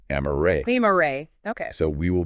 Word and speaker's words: Amarae: And just a note here, Amarae is spelled A-M-A-R-A-E, Okay. and it's pronounced Amarae.